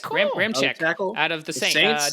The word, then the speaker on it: Ramczyk: but I'm gonna give some respect to Ryan Ramsey. Oh, Ramczyk. Yeah, all right, cool. Ramczyk tackle.